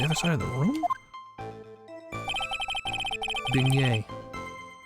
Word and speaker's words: beignet: Beignet. Beignet. Not beige net. I didn't say beige net. I said beignet.